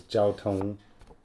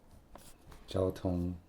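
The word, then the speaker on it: 交通: Jiāo, first tone. Jiāotōng. Jiāotōng, I think that's also first tone.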